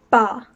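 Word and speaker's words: 八: number eight is pronounced ba like the sound that a sheep makes and again it's first tone so it's flat bar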